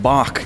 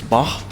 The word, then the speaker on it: Bach: I feel I have been pronouncing Bach incorrectly. It's Bach. Well, both are acceptable, but in what does German, he prefer?